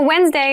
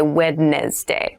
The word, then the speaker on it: Wednesday: So, Wednesday is the middle day of the week, but keep in mind this is pronounced Wednesday. There's a D there, but we don't say wedness day.